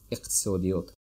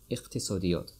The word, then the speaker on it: иқтисодиёт: Economics, иқтисодиёт, иқтисодиёт, иқтисодиёт. And if it's hard for you to pronounce that, you can just pronounce first two letters first, like iq, and then tisodiyot, iqtisodiyot.